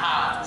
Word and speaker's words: Han: think his name is Hans? No. Oh, that drives me crazy. So many people say that. Listen up, and listen up good. It is not Hans Solo. It's pronounced... Actually, it's pronounced Han.